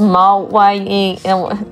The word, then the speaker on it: Mawile: It's pronounced Mawile.